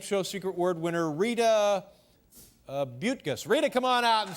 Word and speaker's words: Buttgas: And again, I must ask you, am I pronouncing that name correctly? Buttgas. Buttgas.